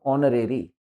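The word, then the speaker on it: honorary: वास गिवन ड ऑनरी इसमें एच साइलेंट है इसका जो एक्सेंट ऑनरी वास गिवन एन ऑनरी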